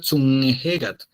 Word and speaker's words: Tsunejegat: y se pronuncia Zunnehegat, que no es Zunnehegat, no es una N, ¿sí?